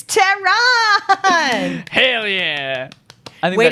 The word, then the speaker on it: Tehran: so i'll tell you it kind of slant rhymes with the name of the country um so how would you how would you hey it's tehran hell yeah i think